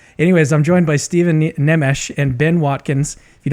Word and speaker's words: Nemes: pronounced like uh neem so that it would rhyme with memes but it doesn't and that's just unfortunate